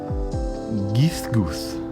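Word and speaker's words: Ghisguth: Nancy, this time you are going to be Gizgus. It's G H I S Gu U T H. Geese goof.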